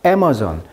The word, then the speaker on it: Amazon: 자, 우리가 아마존이라고 하는데 영어식 발음은 강세가 이름절입니다. 그래서 A에 강세가 있다 보니까 뒤에가 죽죠. 그러니까 Amazon 이렇게 되겠죠.